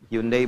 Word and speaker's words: Hyundai: Hyundai bacanya Hai.